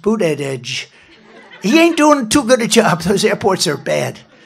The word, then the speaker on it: Buttigieg: You know, years ago, I said, how do you pronounce that damn name? And they said, Buttigieg, the word edge. That's the way it's pronounced, Buttigieg.